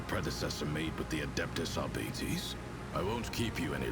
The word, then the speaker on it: Arbites: Exactant Solomon Anthar of the Adeptist Arbites. State your name and the purpose of your stay on Racetamon. Well, first of all, you're clearly a heretic because it's pronounced arbities.